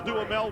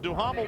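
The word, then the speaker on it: Duhamel: you'll hear us say Miguel damel which is how he pronounces it daml which is how we pronounce it you know so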